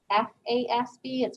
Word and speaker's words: FASB: is known as the financial accounting standards board f-a-s-b it's pronounced fasbi so the fazby in the united states sets our accounting standards